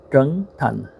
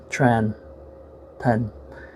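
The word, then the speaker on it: Trấn Thành: His Vietnamese pronunciation is called Trung Thanh, and the English pronunciation would be Tran Thanh.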